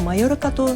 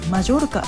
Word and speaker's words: Mallorca: マヨルカが日本では正式名称のようですが、魔ジョルカと発音される場合もあります。